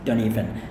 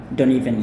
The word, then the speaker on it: don't even: In American English, when a word or a syllable ends in "nt," it's common to just pronounce the "n."